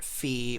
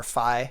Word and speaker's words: Fi: is the design for fee or fie however you want to pronounce it I call our fee it's more comfortable to say but it's such a